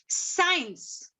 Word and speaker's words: science: Science. In science also, C is silent. The first C, S-C-I.